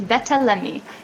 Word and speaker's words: Betta: we're from south africa is that how we pronounce it i want to be perfectly right for this interview you are lovely it's better yes better amazing and i want to first